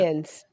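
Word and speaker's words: Cairns: How do you pronounce that? Cans.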